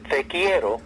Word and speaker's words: Te Quiero: Well, the song has a little Italian in it, and Spanish and English, and it's called Te Quiero.